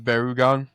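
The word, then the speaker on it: Barugon: I love Barugan. Is that how you say it, from the Gamera franchise? Yeah, Gamera vs. Barugan.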